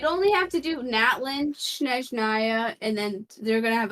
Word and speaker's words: Snezhnaya: You'd only have to do Natlin, Snezhnaya, and then they're gonna have a Celestia Please say level.